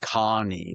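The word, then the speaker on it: Kani: So, K A N I and it's pronounced Connie like that.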